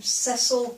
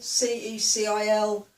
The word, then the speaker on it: Cecil: The name Cecil, C-E-C-I-L, we say Cecil. I've heard it pronounced Cecil. Oh, the other one, the herb, basil, we say basil, which again is also a name over here.